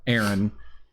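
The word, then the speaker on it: Eren: main character his name aaron but if you listen to the japanese dub they they pronounce it the way that my brother aaron uh pronounces his name and spelled it same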